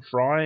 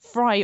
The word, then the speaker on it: Fry: speaking of Steven fry fry obviously rhymes with sky and sky is the